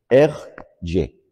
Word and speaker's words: Hergé: el y simplemente es las dos iniciales la g y la r puestas al revés y pronunciadas en francés r y Ese es su nombre